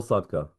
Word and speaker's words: Sadka: Saul Sadka, good to be here with you Saul today.